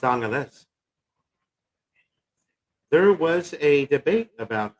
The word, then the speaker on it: Angeles: It's Angeles.